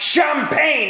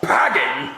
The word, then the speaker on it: champagne: Well, you know it's pronounced champagne and not pagging.